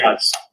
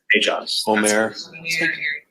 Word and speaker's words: Aejaz: Do we have a correct pronunciation of his name? That's the best information I was told. Aejaz. Sorry? Aejaz. Oumair Aejaz.